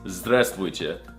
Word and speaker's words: здравствуйте: No, that's not how you say it. It's здравствуйте.